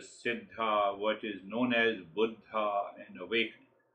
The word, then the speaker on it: Buddha: what is known as Buddha and awakening. It is not Buddha as we Americans say. The Buddha means the old guy. It is a Sanskrit word or a Hindi word.